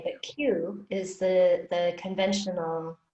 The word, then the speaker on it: qi: think i would have put in k but q is the the conventional spelling of qigong so q i q i is pronounced qi okay i've also probably seen it